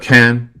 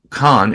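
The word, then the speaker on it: Cannes: we flew into a can don't pronounce it con it's not it's can't then you have central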